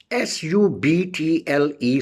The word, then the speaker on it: subtle: And then we use a word subtle, S-U-B-T-L-E, subtle. In subtle, the meaning of subtle is subtle, S-U-B-T-L-E.